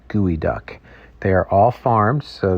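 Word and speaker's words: geoduck: from the Pacific Northwest the gooey duck it's not pronounced geod duck it's gooey duck they are all farmed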